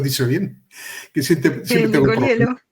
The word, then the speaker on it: Nicoliello: A ver si lo has dicho bien, que si te nicolielo. Sí, Nicolielo. Lo has dicho bien, pero porque la última vez que que que te entrevisté no había manera de pronunciar debidamente eh tu apellido.